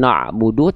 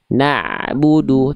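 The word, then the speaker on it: نَعْبُدُ: Nah, tinggal ditipiskan huruf nunnya dan huruf ainnya. Ain sukunnya ngalirnya sudah bagus sedikit ngalir ya. Tinggal ditipiskan dengan na'budu tapi na'budu coba. Naudu.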